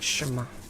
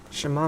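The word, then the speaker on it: שמע: on anymore what are my pronounces well let's pronounce the word shima shima means listen in hebrew shima hey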